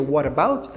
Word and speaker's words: what about: a gente vai juntar quando a gente pronuncia what about soa como se tivesse sendo apenas uma única palavra ninguém fala what about